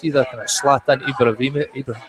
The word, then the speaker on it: Zlatan: It's either kind of Zlatan Ibrahimovic.